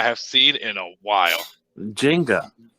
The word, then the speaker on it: Jenga: Jenga.